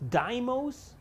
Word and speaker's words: Deimos: become a long-running series so deimos is pronounced dimos all right i'll pass